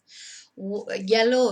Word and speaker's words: hielo: Yellow, of course, is ice. It's pronounced yellow because you don't pronounce the H.